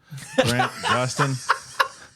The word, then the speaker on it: Grant Gustin: dive into those comments The Flash what's it Grant Guston how do you pronounce Grant Gustin close Grant Gustin yeah well that guy played The Flash and